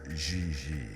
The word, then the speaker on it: Gigi: En français, you pronounce G like J and J like G. She may very well be JJ in America, but in France, she is Gigi.